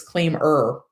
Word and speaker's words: ClaimEr: month is mo so the abbreviation of year is y-r so why don't they claim year but he told me it's claim er i'm gonna fight you